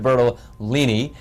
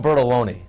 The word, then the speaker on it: Bertolini: Bertolini from Roger Williams Park. Did I say it right this time? Yes, you did. I always call him Bertoloni.